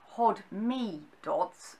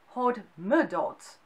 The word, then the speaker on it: Hodmedod: And sometimes it's pronounced hodme dots and sometimes there's hod m dots. So it can be said with a mi or a m in it.